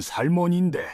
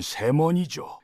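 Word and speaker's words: salmon: 언어 살몬도 스펠링대로 읽으면 살몬인데 실제로는 세원이죠. 애를 발음 안 해요.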